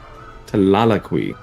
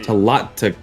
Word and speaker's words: Tlatlaqui: Tlalaqui. No, Talat, you have to pronunciate that T. Tlatlaqui.